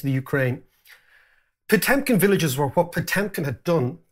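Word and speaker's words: Potemkin: brilliant and it's called pkin Villages or pumkin as the Russians would pronounce it Villages and it's the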